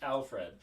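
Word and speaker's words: Alferd: have the curious case of the colorado cannibal alfred packer spelled alford but pronounced alfred um as and so this was a virtual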